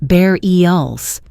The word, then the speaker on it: burials: It's pronounced bareels.